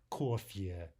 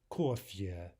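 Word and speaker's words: кофе: One example here is coffee, which is clearly a borrowing, but in Russian the pronunciation is kofye, kofye.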